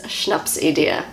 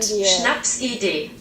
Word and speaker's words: Schnapsidee: This word is Schnapsidee. That's how I say it as a New Zealander. This is how Google says it. Schnapsidee.